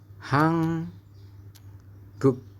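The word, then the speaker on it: 한국: vokal giok ya Nah kalau giok ditaruh di bawah maka bunyinya akan berubah teman-teman bunyinya berubah menjadi apa menjadi huruf k maka kita membacanya adalah hang guk Nah akhirnya adalah k teman-teman bukan G ya bisa dipahami ya Sesuai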